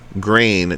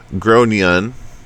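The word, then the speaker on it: Gráinne: the kid is called grain generally pronounced as groan and or thereabouts I tried to be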